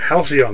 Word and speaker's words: Halcyon: Halcyon, that's how you say it.